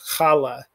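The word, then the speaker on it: challah: guttural but it's it's just a slight guttural like johann sebastian bach hanukkah um the braided bread that we eat at shabbat called khala and a lot of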